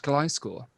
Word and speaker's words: Gliscor: It's pronounced Gliscor. Ooh, he knows too much.